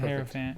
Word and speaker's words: Hierophant: this one, I'm probably gonna butcher the pronunciation, but I'm gonna say the Hierophant. The Hierophant, yeah.